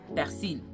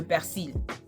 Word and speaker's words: persil: One thing that I wanted to mention was that they kept talking about le persil, and how Haitian could not pronounce the R in persil, okay?